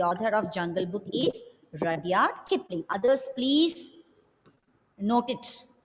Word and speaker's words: Rudyard: Not Rudyard, Rudyard. See, look at the spelling. R-U-D-Y-A-R-D. Rudyard.